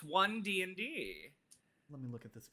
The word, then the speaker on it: One D&D: me okay let's get let's say it correctly it is one dnd that's not even correct it's d1 no it's not it's one dnd let me look at